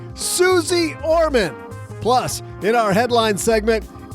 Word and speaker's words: Suze Orman: you because today we welcome to the basement Suz or Main. What? What do you mean that's not how you pronounce it? Oh, Suzy. Okay, got it. Got it. As I was saying, Suzy Orman.